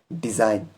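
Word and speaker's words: design: यानी एन से पहले जी ए गया जी साइलेंट रहेगा और इसे हम पढ़ेंगे डिजाइन आगे समझ में ऐसे ही दूसरा अगर हम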